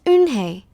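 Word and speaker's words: Unhei: hey corrected it's spelled UNH II I it's pronounced in Hey oh so it's you hey the boil I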